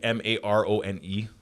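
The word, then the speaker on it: marone: is spelled with it with a as like m-a-r-o-n-e yeah pronounced maron because when i when i heard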